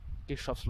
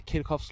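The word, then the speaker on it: Kirchhoff: কেউ বলে কিরখফস ল, কেউ বলে কিরচফস ল। আমরা পড়বো কারশফস ল। হ্যাঁ, আমরা বাঙালি তো আমরা কারশফ পড়বো।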